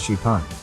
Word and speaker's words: XPeng: can fly the company calls it Spang pronounced sheepan the vehicle can fly